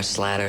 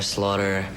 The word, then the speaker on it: Slaughter: right which is nice a lot of people usually say it oh I don't know slatter Slaughter yeah just you said it